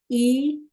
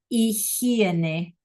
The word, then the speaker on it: higiene: So, clase, la higiene personal. That is an extremely hard word for native English speakers to say. La higiene, because the H is silent and the G sounds like an H. La higiene personal.